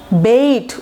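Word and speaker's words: bait: The police has planted a বেট, বেইট উচ্চারণ হবে বেইট, ঠিক আছে।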